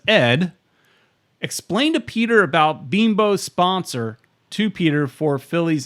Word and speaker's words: Bimbo: I know it's not bimbo I know it's beam bow even though you've known